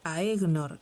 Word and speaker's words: Aegnor: AE como en Aegnor, Nirna y OE como en Noeg, Loeg son combinaciones de las vocales a E o e, pero ae e puede pronunciarse de igual modo que a i y o e en inglés toy.